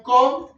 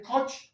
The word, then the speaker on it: Koch: No se dice Koch, se dice Koch, ¿no es cierto?